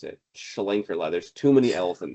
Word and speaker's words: Schlenkerla: it's no one orders it because you can't even pronounce it. Schlenkerla.